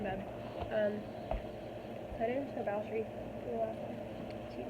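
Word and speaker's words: Báthory: So her name's Balshree. She's named after, it's spelled Bathory.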